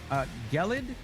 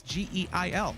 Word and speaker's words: Geil: Gelid. So this Geil, you pronounce as Gelid? That's an interesting take. Oh, Gale. Who said they say Gelid? Oh, Gelid. Well, Tanmay, that's not what it says. It's Geil.